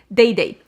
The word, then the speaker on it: Dede: It's not Dede, Dede. Dede Signature, I met her and she introduced herself and she said her name, and I'm like, oh my god, have I been mispronouncing your brand this entire time? Her name is Dede.